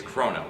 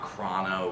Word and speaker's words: Chrono: how you say it it's chrono it's not chrono or crayon Outworld however people are